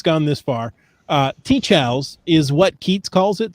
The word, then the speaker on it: TCHALS: so we've had the argument of how to pronounce these letters and uh really yeah and some people have come up with shahelis you know it's it's gone it's gone this far teach how's is what keats calls it so that's what